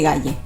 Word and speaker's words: Galle: Ahora sería una continuación de playas y pequeños asentamientos pesqueros hasta llegar a la ciudad de Galle, aunque se pronuncia Gol.